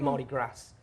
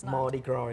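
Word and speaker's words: Mardi Gras: I called it Marty Grass. Turns out that's not the pronunciation. Mardigra is the right term.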